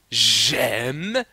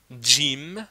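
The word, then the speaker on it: جيم: Mais le gym, on ne dit pas j'aime mais on dit gym. Jim. Voilà.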